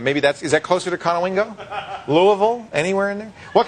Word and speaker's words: Conowingo: Where's Conowingo? Is that how you say it? Yeah. Conowingo? Mm-hmm. You play bingo in Conowingo?